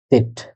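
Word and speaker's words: Zett: জেড কে বলা হয় সেট, জেড এর উচ্চারণ হলো সেট।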